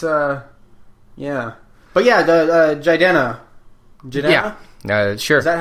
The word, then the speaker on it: Jidenna: It's yeah, but yeah, the Jidenna. Yeah, sure. Is that how you pronounce that?